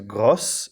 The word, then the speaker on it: gros: Second one is gros, becomes grosse in the feminine. And so you've got, it's pronounced a little differently. So you've got gros and grosse.